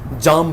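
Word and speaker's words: jam: अब वो हंसने लगा, सर ये जैम क्या होती है, हमने तो जाम पढ़ा है, ट्रैफिक बहुत जाम है। जाम इज a British pronunciation, American pronunciation is जैम।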